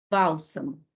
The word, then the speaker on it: bálsamo: Bálsamo. Também, olha, essa é a sílaba tônica.